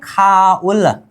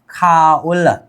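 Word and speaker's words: 가을: अब इसको बोलेंगे खाउल। क्या बोलेंगे? खाउल।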